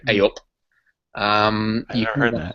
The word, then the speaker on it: eyup: So A up, it's spelled EYUP, and it's kind of like hey up, but we say A up.